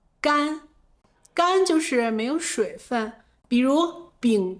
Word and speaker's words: 干: 他精明干练 He is smart and capable 接下来，我们来看这个字的另一个读音 Next, let's talk about another pronunciation of this word, 干 gān 干就是没有水分 Without moisture, it's dry.